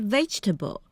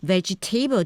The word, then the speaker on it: vegetable: such as utilitarianism indeed just like the word vegetable you you don't say veget table just because there is a table in the word so remember to stress